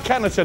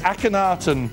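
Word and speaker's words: Akhenaten: a woman oh it's apparently sorry apparently it's pronounced akatan aanan so it's not a caneton it's akenaton oh god um this heretic Pharaoh revolutionized religion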